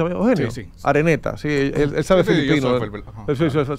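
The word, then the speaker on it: Araneta: ¿Así se pronuncia, Eugenio? Sí. Areneta, sí, él sabe filipino.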